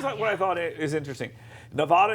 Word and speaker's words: Nevada: I thought is interesting Nevada is a swing state or Nevada depending on how you say it it's a swing state Nevada don't say it the other way okay so